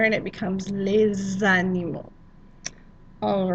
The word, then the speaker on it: les animaux: Les animaux domestiques. Les animaux domestiques. Note that we are making a liaison in between les animaux. We made that Z sound in there and it becomes les animaux.